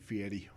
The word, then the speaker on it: Fieri: Did I say it right? Fieri. Fieri. There you go. Yeah, most people say Guy Fieri, and I'm like, no. Sounds like a Fiero.